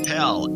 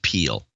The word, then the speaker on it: Peel: Charles Pell, a.k.a. Sir Uptitious, in Mankato, Minnesota. 260.59. Charles, it's actually pronounced Peel.